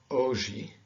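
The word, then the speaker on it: hoje: two different pronunciations okay one is at the beginning of a letter it is silent so these words this is aura or ogi and elena okay you so you don't hear the age here aura okay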